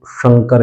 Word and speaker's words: शंकर: हम देखते हैं कई बार क्या है, कोई जैसे शंकर नाम बोलता है तो वो शंकर बोलता है, हमें आश्चर्य होता है कि वो शंकर क्यों बोलता है, लेकिन वास्तविक जो उच्चारण होता है वो शंकर ही होता है, ठीक है।